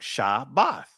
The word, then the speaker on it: Shabbath: Now, of course, it's not spelled with two B's, family, because it's only one bayath in the word. That's why you see me spell it SHA-BATH, just to make sure that you guys get the pronunciation correct and that there's no two B's in it.